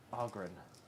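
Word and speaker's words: Ogryn: The Ogren. Ogren. Pronounced Ogren.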